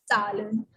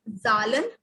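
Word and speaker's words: Zahlen: Salen. So in Z, we have sound of T, halka sa T, Salen, not Zalen, like in English, it's in German, so Salen.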